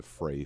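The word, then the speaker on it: Frey: you'd also know that it's run by the fray family f-r-e-y it's been in the family for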